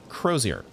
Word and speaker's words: crosier: word uh crosier okay crosier easy enough to remember it says yeah okay that one actually looks like how it's uh how I would think to pronounce it CER and the other